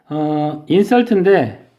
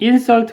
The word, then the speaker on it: insult: insult인데 얘를 강세를 앞에 두고 insult 그러면 명사로 모욕이고요. 얘를 강세를 뒤에 두고 insult 그러면 얘는 모욕하다예요.